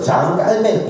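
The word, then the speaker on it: Jean Calvin: 프랑스 말로 장 깔뱅 이렇게 발음하는 게 맞다고 해요.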